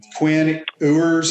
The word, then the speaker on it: Quinn Ewers: Quinn Ewers, I think you pronounce his name.